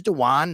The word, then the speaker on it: Dewan: and by the way it is Dewan not Dwayne I know it's spelled like Dwayne but it is dwan Smoot and we're going